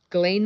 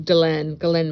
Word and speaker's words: Ghislaine: Ghislaine Maxwell trial. Or I should say her correct pronunciation is Ghislaine Maxwell.